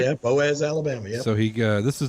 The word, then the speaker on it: Boaz: Yeah, Boaz, Alabama.